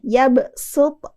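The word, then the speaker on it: يبسط: wayabsut tapi kita baca kita ganti huruf shadnya dengan huruf Sin Apa beda huruf Shad dengan huruf Sin nih jelas-jelas ya orang Indonesia kebanyakan suka ketukar pengucapan huruf Shad sama huruf Sin gampangnya gini kalau huruf Sin kita itu mempertemukan antara gigi atas geraham atas dengan geraham bawah bacanya agak sambil nyengir gitu dikit Bapak Ibu Ya Sin yabsut yabsut kalau Shad kita agak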